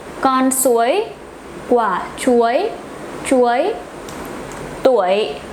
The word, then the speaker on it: tuổi: Tuổi, bạn bao nhiêu tuổi? Not bạn bao nhiêu túi.